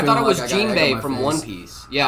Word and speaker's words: Jinbei: It's pronounced Jinbei? That's what I said. I said Jinbei. Jimby? Jimby? Jimby? Like Jim Bean?